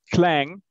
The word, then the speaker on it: Klang: playing dot so so it's like actually um clang it's in german it's like if you drop like a coin it makes clang i didn't ask about playing